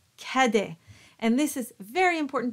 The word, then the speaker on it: Cadet: a as in top so taking a word that comes up a lot in this song how would you pronounce it would you say Cadet or would you say Cade now if you've been paying attention you know the answer it is in fact kede and this is very